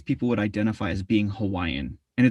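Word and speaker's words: Hawaiʻi: and it's funny because we call it hawaii for those that really know what and how to say it um but then when we say the english word hawaiian we don't really add that kind of glottal mark or phenomenon in it and say hawaii in some people do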